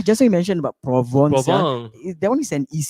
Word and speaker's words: Provence: Yeah, Provence. province, huh? Provence. The way they pronounce. Oh, because it's French.